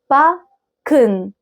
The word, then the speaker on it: backen: طيب التسي والكا مع بعض لما بيجوا ورا بعض بيتنطقوا كأنهم كاف كده مشددة شوية. يعني zum Beispiel backen.